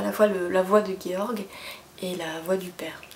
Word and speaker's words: Georg: En plus, c'est un roman semi-épistolaire, puisqu'on alterne entre le récit de Georg, je le prononce à l'allemande, alors j'ai estimé que ça se prononçait pareil en norvégien, ça se trouve je me trompe.